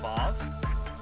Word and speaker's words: Vav: This is actually VAV. Wow. And the last one is Aleph. There you go. So there's your extra pronunciations.